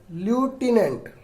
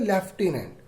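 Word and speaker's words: lieutenant: अब ये इसे क्या पढ़ेंगे, कई लोग पढ़ते हैं ल्यूटिनेंट, जबकि गलत है। इसे पढ़ते हैं लेफ्टिनेंट। ठीक है, लेफ्टिनेंट।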